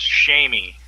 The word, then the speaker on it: Seamus: I call him see me. That's the way it's gonna be. It's an Irish name. It's pronounced Shamey. I know his name is Seamus.